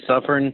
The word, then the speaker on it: Suffern: Am I pronouncing that right? Yep, you got it. Suffern.